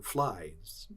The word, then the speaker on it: vly: The Dutch referred to the valley made by the stream as the Vly or Fly. The Dutch called it v-l-y. It's pronounced, kind of, fly.